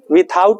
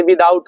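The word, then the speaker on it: without: विदा आउट पढ़ते हैं विथ आउट नहीं होता है ये विदाउट होता है डब्लू आई टी एच का उच्चारण विद होता है ना कि विथ होता है विद पढ़ेंगे इसको विथ नहीं पढ़ेंगे विदाउट होता है विदाउट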